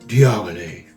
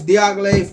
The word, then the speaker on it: Diaghilev: And Diaghilev, Diaghilev. That's how you say that, Diaghilev. All right. Whenever you pronounce Roja Dove's fragrance, Diaghilev, you have to put some manhood in that one, Diaghilev.